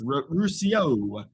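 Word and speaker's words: Rousseau: It was Russo. I don't even know how to pronounce that. It's Ruscio. Ruscio.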